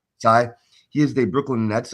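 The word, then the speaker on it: Tsai: group that includes Joseph how do you say it? Sai or Say? He's the Sai.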